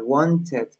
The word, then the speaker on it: wanted: Entonces yo puedo decir, I want net, I wanted. No digo, I want. No hago como un doblete, sino que digo wanted. Lo puedo pronunciar literal como se lee, como, ah, wanted.